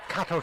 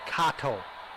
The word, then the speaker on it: Kato: The nice thing about Kato truck, and that's the correct way to say it, Kato, not Kato.